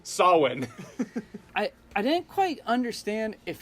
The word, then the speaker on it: Samhain: look at ye no it will never be pronounced the way it actually looks actually pronounced saw when correcting that yes they don't say it Samhain I'm like thank you